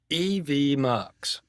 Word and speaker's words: EvMux: So, let's talk about EV mucks. And that's how it's pronounced. EVM mucks. It's actually stands for event multiplexer is what it stands for actually. EV muks. Muk. Muk. Muk as in multiplexer.